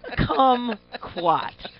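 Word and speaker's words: kumquat: fruity sounding proof man come quat rhymes with come oh he said squat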